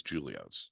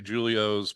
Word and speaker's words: Julio's: but here's my question everybody mispronounces Julios it's a hard J because it's Italian named after your grandfather